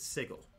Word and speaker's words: Sigil: avanthi is team fights i pronounce it sigel is it spelled s-i-g-i-l like the word sigil yes am i going to pronounce it like that no because uh i i would get him confused with the actual word sigil like if someone has a sigil i suppose that someone could be wearing a sigil from sigel but that's why i pronounce them differently so i truthfully i